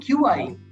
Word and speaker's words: qi: gang is written q-i-g-o engine and the word qi is uh pronounced qi and is what refers to life